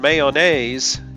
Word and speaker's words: mayonnaise: The mayon in mayonnaise gets leveled out to man.